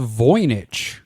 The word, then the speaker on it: Voynich: object that exists um we're doing the it's pronounced voich correct the voich manuscript which yeah and I'm oh yes go